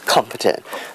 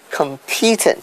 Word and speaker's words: competent: first syllable which is competent but a lot of singaporeans say competent so they put the stress on the wrong syllable which is on the